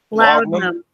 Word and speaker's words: laudanum: Laudanum.